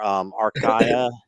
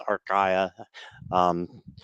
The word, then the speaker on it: Archaea: And yes, they are Archaea.